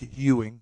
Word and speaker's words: Ewing: freaking uh clyde drexler isn't it last name pronounced no it's ewing patrick ew it's ewing hewing was hakeem not